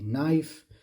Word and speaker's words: knife: say knife okay so the K at the beginning is Silent not pronounced all right again a